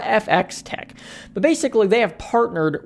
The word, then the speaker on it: FxTech: makes it i guess it's pronounced fx tech there's the f and then the x is in parentheses and then t e c k so i guess we're going to call it fx tech but basically they have